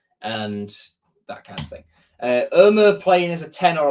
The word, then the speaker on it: Ömür: The Turkish way of saying it, Abdülkadir Ömür. Like you're saying no in a really sort of strong, like you're saying oh no in a really strong Hull accent.